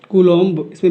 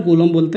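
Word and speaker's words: coulomb: कूलॉम, इसमें B silent रहता है, हम कूलॉम बोलते हैं।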